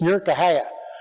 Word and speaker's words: Newark: how you say it it's not Newark Ohio it's near kahat if you're a local so I'm in near